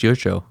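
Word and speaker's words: Jurco: Well, he was calling Thomas Yurcho for a while. True. I think that's because Yurko was like, no, man, it's Yurcho.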